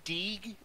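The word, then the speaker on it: Deege: Brother Deeg is another good one. His name is spelled D-E-G-E. Mm-hmm. Like, can you Deeg it?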